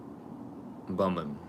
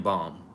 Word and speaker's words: Baum: That was reported by the Chronicle's Dan Bumman. I think Bumman or Baham. If I said the last name right. Yeah, I think I said it right. No, Dan Baum. That's how you say it.